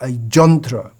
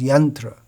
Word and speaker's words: yantra: is just like a jantra, but the standard pronunciation is yantra.